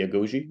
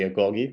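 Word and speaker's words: agoge: to a place called the agoji or the agogi depending how you like to pronounce it so the AG agogi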